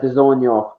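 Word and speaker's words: DAZN: If you type it in Google, it's DRZN, but it's pronounced the zone.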